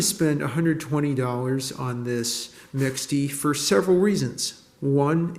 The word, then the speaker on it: mixte: 1985 Panasonic sport LX mixty or maybe misht or mishti if you were to use the French pronunciation in a wine red